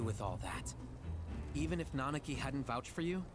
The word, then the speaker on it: Nanaki: I've always pronounced his real name Nanaki instead of Nanaki. Like harder, flatter A's.